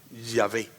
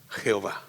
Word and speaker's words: Yahvé: la palabra yo soy escrita en el hebreo no lleva vocales Por qué Porque los hebreos no la pronuncian cuando están leyendo las sagradas escrituras aparece la palabra en puras consonantes Perdón en puras letras consonantes luego se le pusieron las vocales para que nosotros la pronunciándose pusieron las vocales y es a lo que llamamos yahvé o Jehová okay Así que el